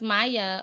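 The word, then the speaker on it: Maja: It's pronounced Maya. Okay. And you must be a Spanish origin, maybe? Hispanic? Maya, because that J is silent, or it makes the Y sound.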